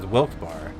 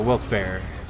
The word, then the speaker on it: Wilkes-Barre: the different ways and I've always known it as Wilkes bar like bars or Wilkes bar Wilkes-Barre I've never heard it pronounced Berry but if you listen